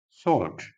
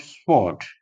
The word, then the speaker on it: sword: next word is vehicle vehicle and that is pronounced as vehicle or vehicle that is strong next word is sword not swort and next word is revus revus not rendes